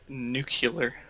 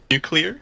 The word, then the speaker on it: nuclear: killer nuclear unclear yes how do you say correctly just nuclear nuclear you're clear am you clear like like the the the meanie way of saying no like new and then clear nuclear I feel like I